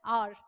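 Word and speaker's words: our: इसका प्रोनाउंसिएशन इस तरीके से होता है आर, है ना, लेकिन अपन क्या बोलते हैं? आवर।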